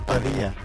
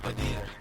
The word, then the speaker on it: Padilla: How did I say it? It's Padilla. Padilla.